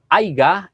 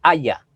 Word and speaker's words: haya: manera incorrecta por ejemplo cuando decimos haiga en vez de haya haiga es una forma incorrecta de pronunciar la palabra haya yo he escuchado a